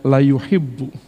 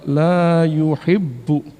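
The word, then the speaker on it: لا يحب: Jangan dibacanya la yuhibbu. Saya kadang-kadang suka gregetan gitu. Karena fatal. Panjang dipendekin, pendek dipanjangin, terutama pada bagian la, fatal akibatnya. Jadi saya selalu mengingatkan itu. Innallaha la yuhibbu.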